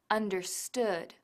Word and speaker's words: understood: el caso de understand el acento en understood recae en la última silaba understood no en la primera Por cierto el pasado